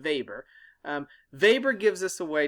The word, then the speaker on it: Weber: power so max weber the way to say his name is max weber not weber but weber weber gives us a